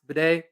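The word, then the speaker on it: Badie: last week or so he's wanted his last name to be pronounced Bay even though in the past he has said batty so we'll call him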